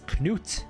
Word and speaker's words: Knut: I say it like the Scandinavians painted warrior. It's Knut, and this one is Gnut. That's how they say it in Scandinavia, and I am from Wales, so I'm part Scandinavian today.